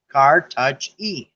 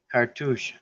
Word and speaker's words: Cartouche: tushy a car Touch Car touch e oh douche cartoons Cartouche Cartouche or two share like cartoon but cartoon and look